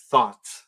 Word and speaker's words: thought: Y pensar en pasado se pronuncia thought, que también es pensamiento.